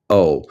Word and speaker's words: Cumbo: And that's Cumbo, Cumbo. Rhymes with Dumbo, like the elephant.